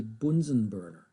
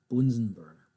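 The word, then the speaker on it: Bunsen burner: If you want to get on the bad side of your American chemistry teacher, please pronounce it the correct German way. It is called a Bunsenburner.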